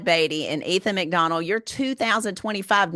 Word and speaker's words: Beaty: And guys, first part of this segment, I said I didn't know if I was pronouncing the name correctly. Well, I have been until the first part of the podcast when I went to Beatty. It is Todd Beaty and Ethan Mcdonald, your